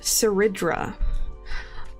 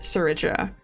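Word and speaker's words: Cerydra: Um, I finally listened to the voice lines for our new girl and it is pronounced Seridra. Um, in English at least it is pronounced Seridra. Seridra BB.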